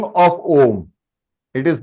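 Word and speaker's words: ॐ: This Om has to be pronounced with short intervals, and that is Om, Om, Om. It is not Ma, it is Am I clear, everybody?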